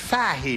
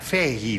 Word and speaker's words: Fahey: It's pronounced Fahey, not Fahey, like I said.